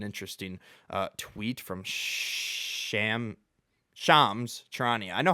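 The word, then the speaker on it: Shams Charania: Okay, that's an interesting uh tweet from Sham Shams Trannia. I know how to pronounce it now. Shams Trania.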